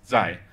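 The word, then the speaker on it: 在: So this is pronounced zai. So it kind of rhymes. It sort of sounds a bit like tai, tai, sort of similar.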